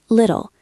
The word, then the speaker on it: little: Little there is our T transformation. The T is between I and L. So it becomes a soft D.